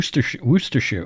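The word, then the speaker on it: Worcestershire: I did um yeah that's a tough one for some people like wer woster shoe werer sauce oh my my husband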